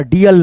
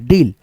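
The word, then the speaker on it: deal: जाएगा गीक का geek T double E एल डील ऐसे करके है ना डीएल नहीं डील अब यहां पे देख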